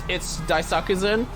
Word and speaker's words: Daisakusen: It's Daisakusen is how I pronounce it.